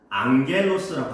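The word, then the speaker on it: ἄγγελος: 이 단어가 헬라어, 신약 성경이 기록된 헬라어로는 앙겔로스라고 합니다.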